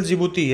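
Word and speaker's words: Djibouti: है ज्योति ज्योति hospital जिबूती यहां पर भी दी साइलेंट है फिर इसके बाद आपका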